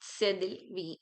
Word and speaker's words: cédille: We pronounce it sedil.